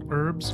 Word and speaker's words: herbs: And herbs are herbs. H is silent.